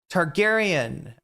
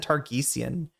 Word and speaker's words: Targaryen: Uh, Daenerys Tar Targaryen. I think I said Targesian.